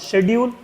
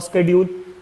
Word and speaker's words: schedule: Now this is said to be market demand schedule और schedule, दोनों pronunciation correct है.